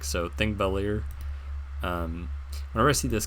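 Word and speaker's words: Þingvellir: this character right here the P looking character it's pronounced th in Icelandic so think bellier um whenever I see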